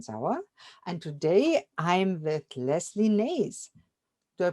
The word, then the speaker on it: Lesley Nase: host Dr Christine zawa and today I'm with Leslie Nays do I pronounce it right Leslie yes thank you Leslie